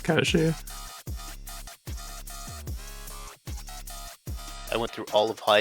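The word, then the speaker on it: Cait Sith: A lot of people will be incorrect and just to say Kate Sith, but now the actual like Gaelic is Kashi.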